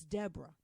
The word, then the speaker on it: Deborah: No, bitch, it's Deborah. Just like you, it's Deborah. Gonna cap just because I'm a little darker, I'm a darker Deborah. That doesn't mean that you got to add extra syllables to my shit, bro.